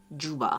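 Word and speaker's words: Dschubba: And last but not the least, Juba. Yes, I know it's not spelled that way, but that's how it's pronounced.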